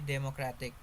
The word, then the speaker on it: democratic: Democratic. Base word democrat. Derived word democratic. Suffix ic. Explanation: the suffix ic shifts the stress to the syllable immediately before it, changing the stress position entirely.